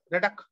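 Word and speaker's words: Roethke: is a bit of r o e t h k e so the first part we say red then k-u-h like that red uh redux so redux a tough pronunciation okay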